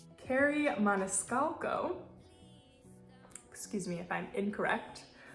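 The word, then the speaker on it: Kerri Maniscalco: of the wicked by I believe it's pronounced Carrie Maniscalco excuse me if I'm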